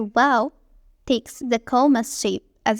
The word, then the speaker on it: Waw: Letter Wow takes the comma shape, as you see. Wow is pronounced like the W in wow.